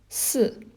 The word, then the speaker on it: 四: It's pronounced as si.